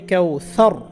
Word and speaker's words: كوثر: এখানে আমরা থামবো, থামলে র সাকিন হবে, উচ্চারণ হবে কাউসার।